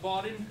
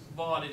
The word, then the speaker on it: Vaadin: Tonight I'm going to be speaking about Vaadin, surprise, surprise, and a bit of about Google